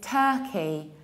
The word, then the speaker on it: Turkey: Whenever you have stressed UR, you pronounce it like So this is Turkey, Turkey.